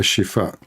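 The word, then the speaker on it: Al-Shifa: bombing of a hospital it's called a shifa in English you say aifa because you cannot pronounce it correctly so if we search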